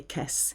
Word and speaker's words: caisse: It's a bit more informal to say caisse.